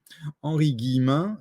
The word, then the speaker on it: Henri Guillemin: vous voulez retrouver ce monsieur c'est henri guillemin henri guillemin donc bah comme ça se prononce et vous trouvez sur youtube vous tapez